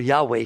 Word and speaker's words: Yahweh: YHW WH. No vowels. You can't pronounce it. But God said my name is That's where Yahweh came from. But Yahweh puts vowels in there.